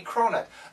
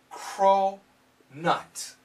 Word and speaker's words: cronut: food it's a cronut it's a cronut a crow nut a combination of croissant and donut and when it comes